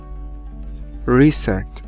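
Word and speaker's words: receipt: نيد نيد نيد نيد ريسيت ريسيت ريسيت ريسيت ريسيت ريس يعني ايصال طبعا هنا يا اصحابي البي سايلنت ما بتتنطق ريس ريس ريس ريس ريس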